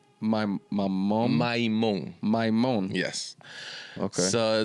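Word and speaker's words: Maimón: Maimon. Maimon.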